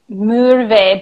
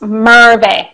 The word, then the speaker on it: Merve: You say Merve, but it's Merve.